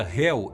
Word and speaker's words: Hel: A palavra Hell em inglês significa inferno, e ela vem da palavra da mesma pronúncia Hel, ou Helien, o mundo dos mortos na mitologia nórdica.